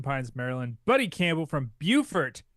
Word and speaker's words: Beaufort: Buddy Campbell from Beaufort, South Carolina. Not Beaufort, South Carolina. Don't mispronounce that.